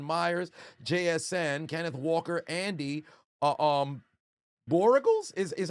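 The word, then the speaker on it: Borregales: My opponents, Jason Myers, JSN, Kenneth Walker, Andy, Borregals is how you pronounce the kicker's name.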